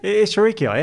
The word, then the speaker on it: Escherichia: I never know how to pronounce this one. Escherichiae? Yeah. Just do it again. Is that how you do it? Escherichiae, absolutely.